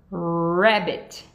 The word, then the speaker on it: rabbit: Rabbit. Rabbit. Então, tem que lembrar de a ponta da língua para trás e fazer biquinho no R.